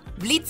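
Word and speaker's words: Blitzø: Hi there, I'm Blitz. The O is silent.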